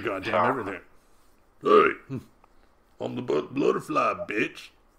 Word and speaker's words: Bloodrfly: Be sure to follow Bloodrfly on Twitter and YouTube. It's Bloodrfly. I said butterfly.